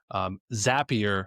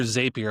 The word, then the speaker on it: Zapier: Zapier makes you happier. And that's how I remember to Oh, pronounce it. that's good. So And it's a zap, right? It's not a zape.